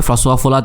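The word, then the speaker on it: François Hollande: but France then prime minister ফ্রাঁসোয়া ফোলাদ, তার নাম আসলে ফ্রেঞ্চ উচ্চারণ করলে ফ্রাঁসোয়া ফোলাদ, emphasized his country's opposition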